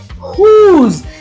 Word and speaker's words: who: will remain silent but if wh is followed by the letter O then W remains silent let us see the word here who's now W is silent so this is who and whoosh right